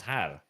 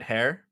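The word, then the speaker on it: Haar: can at least pronounce har. Isn't it hair? Little bitch. Har. Not hair.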